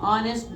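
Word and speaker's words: honest: ऑनेस्ट अ का उच्चारण हो रहा है।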